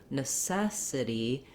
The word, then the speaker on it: necessity: when we have the stress in the second syllable necessity that we have to change to a sound